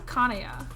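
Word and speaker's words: Kanaya: Is it Kaya or Kanea? I've pronounced it both ways. I've heard it pronounced both ways.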